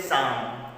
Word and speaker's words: psalm: P is silent and the sound L is also silent. You have to say psalm.